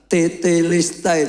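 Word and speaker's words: τετέλεσται: Dalam bahasa Yani Yunani ditulis tetelistai, Saudara kalau diucapkan tetistai.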